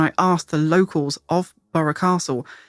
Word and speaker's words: Burgh Castle: to the conclusion that we're pretty sure that it should be pronounced borough castle so that's what we'll